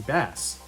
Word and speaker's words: Bass: But I called him Bass as a kid because that's how it's spelled. The musical references didn't mean anything to me at the time.